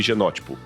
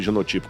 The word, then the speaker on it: genótipo: Fenótipo e genótipo. Ou fenotipo e genotipo, como alguns pronunciam.